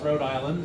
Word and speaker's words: Rhode Island: still call it is it's Road it's not RH Island it's Rhode Island it's just Isa Island without the uh and it's brookl